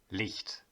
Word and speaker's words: Licht: have the most important word of the verse leaked or light leaked as you might have already